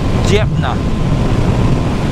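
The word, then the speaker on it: Dnepr: Got to pronounce this correctly. It's a Djepna Russian sidecar.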